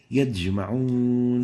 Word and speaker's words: يجمعون: So make sure not to mix the sound of the jim with that of the dal.